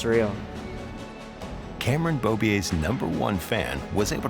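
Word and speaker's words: Beaubier: last name and I was like oh it's bobier and she's oh like the motorcycle rider and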